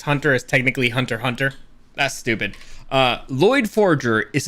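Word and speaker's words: Hunter × Hunter: Whenever there's like an X on, like Hunter x Hunter is technically Hunter Hunter.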